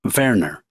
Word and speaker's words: Werner: Transcriptors note, pronounce that last name Werner, mostly called PDQ.